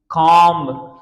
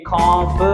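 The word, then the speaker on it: comb: कमिंग आई एम कमिंग ये खम नहीं होता खम यहां पर बी साइलेंट होती है स आज के बाद आप कभी खम नहीं पढ़ना ये गलत हो जाएगा गाइस ठीक है कम उसके बाद लाइम ब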